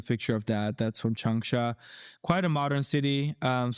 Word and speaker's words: Changsha: Is that correctly That's pronounced? right, Changsha.